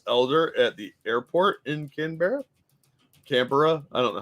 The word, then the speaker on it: Canberra: Dangerous says it's pronounced like a stoner asking for a beer. Canberra?